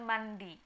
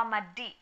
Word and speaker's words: mandi: Terus gimana dengan mandi? Apa madi? Enggak ya, kalau mandi dia tetap bacanya mandi. Sebenarnya juga mandi itu bukan bahasa Batak, itu hanya bahasa yang diserap ke dalam bahasa Batak.